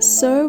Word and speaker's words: Si: Si, pronounced like sir with a slow exhale, which is associated with the lungs.